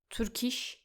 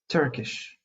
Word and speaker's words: Turkish: Don't say them like burgers, Turkish. Make sure not to add the extra u sound. It's Turkish. Turkish and burger. Burger. That's right. Let's check some words that rhyme with them. Turkish rhymes with burnish and chish. And burger rhymes with worker and further.